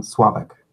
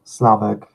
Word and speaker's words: Slavik: the hardest languages so I pronounce my name suave ik so I think a lot of but you know suave ik Slavic are also acceptable cool thank you it's